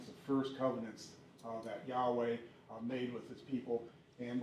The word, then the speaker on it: Yahweh: It's pronounced Yahweh, but like I said, I'm going to talk some more about it.